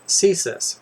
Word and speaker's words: CSIS: I am an agent with CSIS, pronounced CSIS. Do you know what CSIS is?